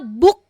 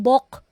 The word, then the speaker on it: book: u u ' ba book po ang pronunciation niya yan hindi Bok ' ba magkaiba po yun eh Bok tsaka Book that's two different vowels po so o order